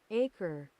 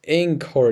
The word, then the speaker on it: anchor: I know we don't pronounce that this way. Sorry for the noise. Acre. I'm so done. No, it's not acre. It's Acre. It's anchor.